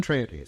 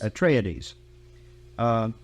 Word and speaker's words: Atreides: You have the forces of the House of Atreides, do you pronounce it? Atreides. Atreides.